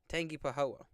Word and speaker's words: Tangipahoa: someone told me how to say it earlier Tangipahoa um please go ahead and get right back